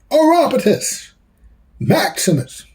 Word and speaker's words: Orapotist Maximus: The name is pronounced Orapotist Maximus. My buddies call me.